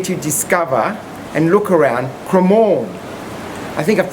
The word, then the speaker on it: Cremorne: Good afternoon, I'm here with Ruby and Peter, and we're here to discover and look around CREMORNE. I think I've pronounced that correctly.